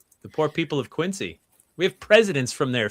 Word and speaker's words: Quincy: Gals is out of Quincy. You know, you you pronounce it Q N Z Y.